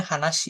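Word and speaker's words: 話: Kalau dia berdiri sendiri tanpa alurigana, dia bacanya hanasi ya.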